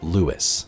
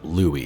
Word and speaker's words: Lewis: Many entries throughout this new lore here details a character named Lewis, or Louis, however you want to pronounce it.